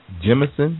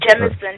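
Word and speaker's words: Jemisin: what was the first one you said NK Jimson jimon yes J e m i s i n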